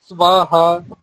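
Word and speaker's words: স্বাহা: এর উচ্চারণটা করার জন্য উপরের পাটির যে দাত রয়েছে তা নিচের ঠোটে স্পর্শ করবে সবাহা সহা এই তাহলে এইযে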